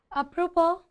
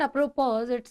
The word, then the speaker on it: apropos: Apropos, it's not apropos, it's pronounced as apropos.